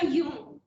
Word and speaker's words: Aion: Pour Platon, le temps de la divinité est Aion. Je prononce à la manière grecque.